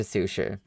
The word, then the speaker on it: Susha: to be shipped to Susha. Please check the order slip. It took all of my effort to not pronounce that as sushi cuz it looks like sushi but in Chinese it would be susha and I was like